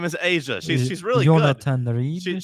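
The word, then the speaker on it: A'ja: What' you call her? Aa. It's Asia. There's an apostrophe in there.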